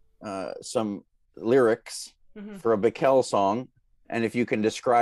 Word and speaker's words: Bikel: I think it's Bikel. Yeah. Yeah. People say Bikel. Yeah. Oi. And that, I mean, actually right this minute, I'm trying to learn some lyrics mm-hmm. for a Bikel song.